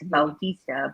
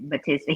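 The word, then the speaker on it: Bautista: it's still it's spelled b-a-u-t-i-s-d-a and then they pronounce it as baltista but but americans say it batista he no they did i think when he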